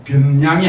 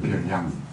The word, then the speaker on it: 변량: 하나하나를 통계에서는 뭐라고 이야기하냐면 별량이라고 이야기합니다. 변량이 아니다. 별량. 별량이라고 이야기해요. 별량. 되세요? 네. 변량이 아니고 별량이다. 네. 한글 발음 기호도 이제는 모르더라고요.